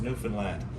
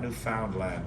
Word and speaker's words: Newfoundland: is a beer and it's pronounced newfoundland not newfoundland or new finland newfoundland is the oldest